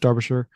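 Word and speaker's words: Derbyshire: So, this place uh you're in Darbisher, which if you're looking at it on paper is Derby, but pronounced Darbasher.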